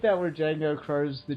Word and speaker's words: Django: Oh, I like that where Django crows the J in the guy's face because D is silent. That was fantastic. That's his catchphrase. The D is silent.